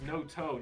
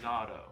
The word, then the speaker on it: Noto: It's Noto, not Nato. Okay, I've been saying it wrong.